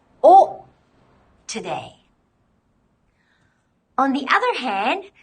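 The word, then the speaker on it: を: with the particle o in the distant past the sound was actually wo but except for a few dialects we simply pronounce it as oh today on the other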